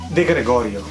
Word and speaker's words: De Gregorio: Do you want to pronounce it for me? De Gregorio.